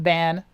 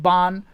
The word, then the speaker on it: Ban: Now, Ban, I call him Ban, but I think they pronounce it Bon, which is like, I don't know.